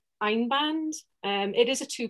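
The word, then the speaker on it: Einband: you can see that one um and it's pronounced ein band and it is a two ply and i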